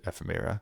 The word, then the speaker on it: ephemera: at all its related ephemera. First of all, great name. Second of all, great SAT word. How do you pronounce that? Ephemera? Like ephemeral, like random things coming out of it.